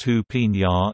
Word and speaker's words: Jupiña: Jupiña, pronounced Jupiña, is a sweet pineapple flavored carbonated beverage.